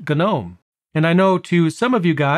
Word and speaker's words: GNOME: the same way, it's actually supposed to be pronounced GNOME.